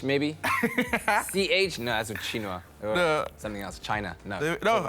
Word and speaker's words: quinoa: And then some quinoa. Oh. The hilarity of how people pronounce this one. Quinoa. Quinoa. Eh? Quinoa. It's quinoa. It's spelled like very foreign, but it's quinoa.